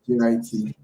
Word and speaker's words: JIT: Most hackers just JIT, pronounced like it rhymes with fit, or JIT.